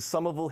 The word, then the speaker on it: Somerville: be talking like a Somerville person in no time, because Somerville leads the way. And just remember, in closing, the R in Somerville is silent.